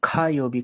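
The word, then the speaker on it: 火曜日: Tuesday is खा योबी, इसको लिखते हैं हम का योबी हैं बट प्रोनाउंस खा योबी करते हैं, खा योबी, दैट इज फायर डे।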